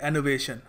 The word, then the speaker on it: enervation: एनोवेशन देखो यहाँ पे आर है ना, ये साइलेंट है, तो यहाँ पर हम इसको प्रोनाउंस करेंगे एनोवेशन।